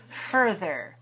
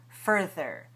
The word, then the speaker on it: further: next word is further watch the shape of my mouth for in both of those syllables and the th comes in the middle further further even more so further